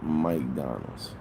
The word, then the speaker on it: McDonald's: Down here, by the way, they pronounce Mike Donald's. like, hey, I'm finna go to McDonald's.